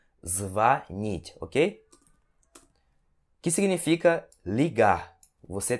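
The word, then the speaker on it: звонить: Vani E se o tensão de ar então pronunciamos vanity ok que significa ligar você telefonar para alguém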